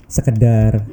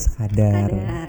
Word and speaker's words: sekadar: Sekedar, kan benar sekadar.